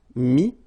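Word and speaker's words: mis: Okay, then E-T-T-R-E will give you this E-S, but then you don't pronounce the S, so you get I. Mettre, mi, and then E-N-D-R-E, I-S, but then same thing here, the sound I.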